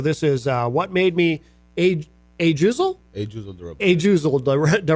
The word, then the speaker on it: Ajuzel: Hey, how do you say I don't know how to pronounce your name. It's Ajuzel.